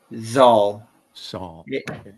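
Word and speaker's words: Xal: Z. Saul. Z. It's spelled X A L.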